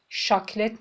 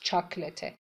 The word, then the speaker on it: chocolate: CH اینجا چ تلفظ میشه. ش تلفظ نمیشه. ش نمیگیم شکلات. شاکلت نیست. چاکلته. شکلا تلفظ فرانسویه.